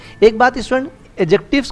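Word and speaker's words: adjectives: एक बात student, एडजेक्टिव्स को एडजेक्टिव पढ़ते हैं, एडजेक्टिव नहीं पढ़ेंगे, ठीक है, यानी डी इज a silent, D is silent here, okay.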